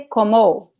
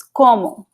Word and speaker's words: como: So, não é, you cannot say como. It's como, ok?